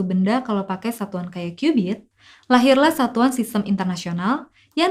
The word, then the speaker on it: cubit: Tulisannya sih cubit, tapi bukan cubit-cubitan ya. Bacanya cubit. Dan sekitar 4.000 tahun yang lalu, bangsa Mesir jadiin 1 cubit ini sebagai satuan panjang mereka.